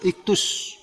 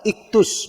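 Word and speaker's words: ἰχθύς: Nah, jadi istilah ikan ini iktus, ya, iktus. Ikan, iktus, bacanya itu iktus.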